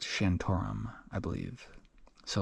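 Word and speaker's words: Shantaram: m but it's pronounced shantum I believe so like there's a vowel between the T and the r um and he mentioned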